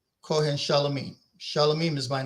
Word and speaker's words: Shalomim: Shalomim is my name in Aramaic. When it's in Greek, my name should still be pronounced Shalomim.